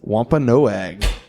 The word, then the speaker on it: Wampanoag: the correct answer is Wampanoag no I was surprised to see this she's pronouncing it wrong you said waa pa in oag it sounds like what